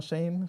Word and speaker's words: Shein: Is it Shein or Shane?